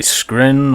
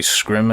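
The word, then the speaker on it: Scrin: So there we go, there's all the cinematics showing that the Skrin or the Scrim are here, depending on how you say it.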